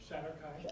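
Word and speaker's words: shadar-kai: Yes, this is Unbroken Chain, which is about the, how do you pronounce the race that it's about? Shadowkai. Oh, I had it right. Okay. It's about the Shadowkai, which they were described to me initially as a race of adrenaline junkies.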